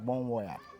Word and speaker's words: Bonwire: The pronunciation is Bonyere, but when you are spelling it, it's like Bonwire.